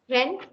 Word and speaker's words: Rennes: So please don't mispronounce. Okay, Nantes, Rennes, Cannes, Limoges.